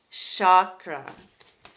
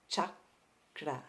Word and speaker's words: chakra: pronunciation is Chuck Chuck chakuda so we have a cha-cha sound ch ch ah the K we just kind of get in there Chuck instead of a